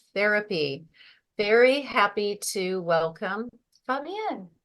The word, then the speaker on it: Fabienne: Very happy to welcome Fabienne.